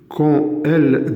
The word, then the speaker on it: quand elle: Et là, une remarque s'impose, malgré que nous avons un D, quand elle disparaît, on va prononcer comme T. Le D, on va le prononcer comme T, qui dit la liaison.